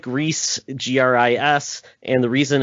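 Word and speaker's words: Gris: only on pc and that's a game called gree my wife uh made sure i could pronounce this correctly because it's actually fantastic i'm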